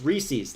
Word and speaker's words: Reese's: what happens um Chuck it's Reese's like rhymes with uh pizzas Mike Mike D said